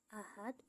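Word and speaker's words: أحد: Ahad, hukum tajwidnya adalah qalqalah kubro karena huruf dal berada di akhir ayat dan dibaca sukun akibat waqaf atau berhenti. Cara membacanya harus dipantulkan dengan kuat atau tebal.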